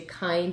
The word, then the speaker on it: kind: k sounds normal nd you keep kind you hear the whole nd you hear the k the part that says that doesn't sound right is that i that it doesn't seem like it should be a long eye and and obviously it